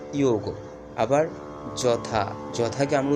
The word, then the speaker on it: যোগ: এখন ইয়র সাথে যদি ঔকার যুক্ত হয় তাহলে ইয়োগ। ঠিক আছে, তাহলে আমরা কি বলবো? যোগকে বলবো আমরা ইয়োগ।